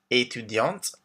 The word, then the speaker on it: étudiante: So we have professeur, informaticien for men, informaticienne for women, chargé de clientèle, étudiant for men, étudiante for women, with the T pronounced at the end, artiste, artist, directeur for